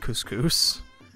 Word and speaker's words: Kuskus: you're in couscous town I believe it's pronounced couscous like the food which is okay but